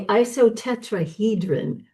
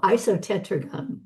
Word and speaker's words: isotetragon: say this right, is something called the isotetrahedron, which is a very large, no, isotetragon. Peggy's wagging her head at me. Okay, I added an extra syllable. Shame on me. Isotetragon.